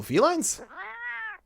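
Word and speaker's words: Felyne: state it right here when you pronounce it there is literally no difference between saying feline with a y or a feline with the i he's making nothing out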